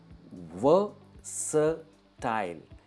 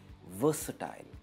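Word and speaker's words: versatile: ये है वर्सेटाइल। यहां पे आर है पर ये आर प्रोनाउंस नहीं होता है, इसे हम कहते हैं वर्सेटाइल।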